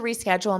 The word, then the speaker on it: reschedule: I need to reschedule my appointment. So notice you pronounce this re in front of schedule. Reschedule. It's a stressed sound.